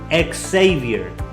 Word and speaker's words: Xavier: ¿Por qué mi nombre no se pronuncia Javier? Podría decirlo Javier. Pero en los Estados Unidos es muy común que se pronuncie la X. X. La pronunciación de la X es X. Por lo tanto, Xavier, que es la pronunciación de mi nombre.